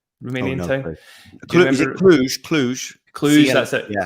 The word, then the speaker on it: Cluj: And then Cluj-Napoca, is that how you pronounce the Romanian city? Romanian town? Is it Cluj? Cluj, that's it. Yeah. Cluj.